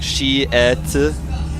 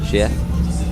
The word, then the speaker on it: Sheth: Very difficult for Koreans to say his name. Yeah. They don't have the TH sounds. Yeah. Or the SH sounds. Exactly. They do have to say like she et, kind of like that.